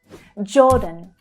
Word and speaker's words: Jordan: Jordan, Jordan. Again, the j consonant sound, followed by the or vowel sound. Or as in door. Jordan. Jordan. The second syllable is unstressed.